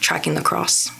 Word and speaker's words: Tracking the X: under tracking the X it's spelled t r a c k i n g t h e x but it's pronounced tracking the cross for like the have